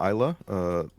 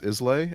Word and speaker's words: Islay: So I like scotches from Isla, which a lot of people pronounce Islay, Islay, as it's an island in Scotland, right?